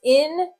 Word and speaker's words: indecision: Notice here that the C is not going to say its k sound. It will say s, because when it's followed by that I, the I will force that C to soften. So this word is indecision.